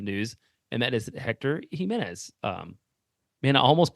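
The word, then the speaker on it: Jiménez: pronounce this last name gimenez and that is entirely incorrect there's no situation where that is correct the accent is on the second syllable and I like I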